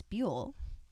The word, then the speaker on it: Buell: critic of the field lawrence buell rhymes with mule has explained that eco-criticism